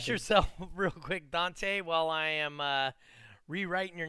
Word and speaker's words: Donteay: yourself real quick, Dante, while I am rewriting your name up here? Yeah, make sure it's spelled Donteay.